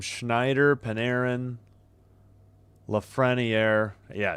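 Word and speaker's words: Lafrenière: Schneider, Paneran, Lefreniier. Yeah, it's a Lefreniier.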